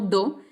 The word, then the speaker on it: do: D-O, lo que uno conoce en español como do, se pronuncia do.